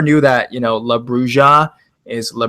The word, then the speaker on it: bruja: I never knew that, you know, La Bruja is La Bruja. You know, the J is supposed to be pronounced an H.